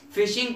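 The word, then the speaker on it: phishing: को क्या कहते हैं, फिशिंग कंपेन। तो इसकी स्पेलिंग है PHSHING, ये फिशिंग की तरह प्रोनाउंस होता है, तो इसका नाम है फिशिंग कंपेन।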